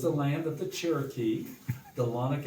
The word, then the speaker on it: Dahlonega: Dahlonega is a Cherokee word. They pronounced it Dahlonega.